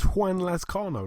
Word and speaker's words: Juan Lazcano: His name was Juan Lazcano, like Juan, you know. Oh, Juan Lazcano.